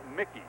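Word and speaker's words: Muecke: That is backup quarterback Tom Mickey, rookie from Baylor, 6'1 195 pounder, very, very strong arm. You see the spelling of it, Mu Ee Ce. It is pronounced Mickey. Tom Mickey out of Baylor.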